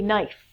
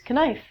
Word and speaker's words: knife: next one is a knife that can I I remember being a child and I would think the word is kunai and then when I learned that it was the thing on the table that